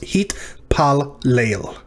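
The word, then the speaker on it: הִתְפַּלֵּל: So the first one is going to close our second syllable, and the second lamed is going to begin our final syllable. So it's hit pal leil.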